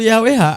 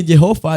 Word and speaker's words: Yahweh: Meskipun nama aslinya tidak diucapkan, pengucapan yang umum adalah Yahwe. Pengucapan lain seperti Yehova dan Yehua juga digunakan oleh sebagian orang.